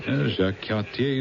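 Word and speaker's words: Jacques Cartier: Jacqu, I like the pronunciation. Jacqu Katier is the way it's pronounced.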